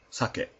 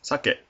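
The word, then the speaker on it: さけ: This next word below sushi is sake, or Japanese liquor. The first character is pronounced sa. Second character is pronounced ke.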